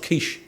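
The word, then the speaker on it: quiche: walked off I let over said mate it's pronounced Kish went to the bar let myself down I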